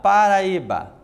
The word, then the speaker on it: Paraíba: paroxítonas e vamos lá Paraíba Paraíba temos aqui quatro sílabas portanto quando o assento está na penúltima sílaba novamente uma paroxítona beleza tranquilo e agora